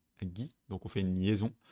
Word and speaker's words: 着: Du coup on l'utilise très souvent en tant que suffixe, dans quel cas il va prendre la prononciation gi.